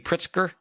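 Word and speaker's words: Pritzker: JB Pritsker.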